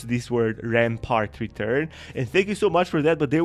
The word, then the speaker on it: Rampart: best he told me Rampart rhymes with fart I'm going to for